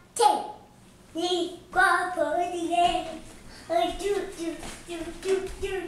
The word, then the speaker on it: guapo: Guapo. Guapo. It means handsome. Guapo the gecko. Guapo. Guapo. Guadalupe, like guapo.